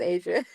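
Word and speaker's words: A'ja: It's Asia.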